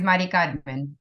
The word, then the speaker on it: Mari Carmen: is Mari Carmen, is how you would pronounce it.